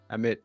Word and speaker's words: Amit: Is that Amit? Am I Amit. pronouncing it correctly? Amit.